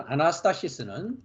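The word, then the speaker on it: ἀνάστασις: 아나스타시스 합니다 우리가 사전을 보면은 부활로 되어 있는 아나스타시스 386번 있데요 아나스타시스 발음을 합니다 standing up again 합니다 우리가이 문장은이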